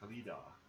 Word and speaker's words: Khalida: So, we're playing as the High Queen This Khalida. is the correct. Khalida. That's how you say it.